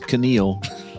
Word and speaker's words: Keneal: My name's Keneal. The K is silent, Neil.